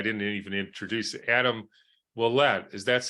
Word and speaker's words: Wuollet: to today I didn't even introduce it Adam Willette is that's how you say it your last